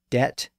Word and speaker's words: debt: 1500s I mean in words like debt and doubt the bee sticks out like a sore thumb so it's easy to